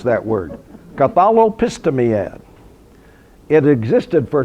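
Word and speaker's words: Catholepistemiad: The name of that institution was Cathalopistimiad. Okay, I worked for a month to learn how to pronounce that word. Cathalopistimiad.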